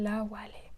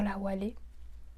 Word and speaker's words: Awalé: qui s'appelle là où elle est ça s'appelle là où aller ça s'écrit à w à l e accents aigus